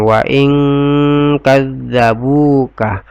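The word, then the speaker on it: وَإِنْ كَذَّبُوكَ: Wa ing, di sini tinggal ya, wa ing antara nun dengan kaf ya, didengungkan. Wa ing kadzabuka, wa ing tidak dibaca jelas seperti ini.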